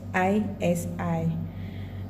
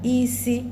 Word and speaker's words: isi: Okay, it can be pronounced in 4 places, like can pronounce as head, blindness, to cook, smell. Okay, to get hand, high. To get blandness, low, low. To get to cook, high and mid, mid. To get smell, high and low.